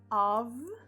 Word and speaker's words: of: a gente tem depois of e quer dizer de e olha só a pronúncia apesar de ser com f ele não tem são Jeff tem um som de ver tá então assim ó